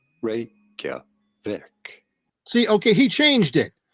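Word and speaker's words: Reykjavík: I hear it as Reykjavik. I'm going to say that it along the lines of Tokyo, which is actually Tokyo, that this is Reykjavik. 3 syllables.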